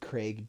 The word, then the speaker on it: Craig: Or you could also use the code the big Craig D. That is the big Craig D or Craig, but it's C R A I G. So he pronounces it Craig.